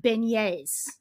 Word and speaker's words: beignet: Well, it was the pronunciation of beignets.